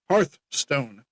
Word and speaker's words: Hearthstone: Hearth Hearthstone. Like Hearth.